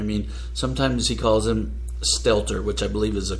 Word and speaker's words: Stelter: I mean, sometimes he calls him Stelter, which I believe is the correct way to say it. Sometimes he calls him Stetzler. Mm-hmm. Sometimes he calls him Stetler.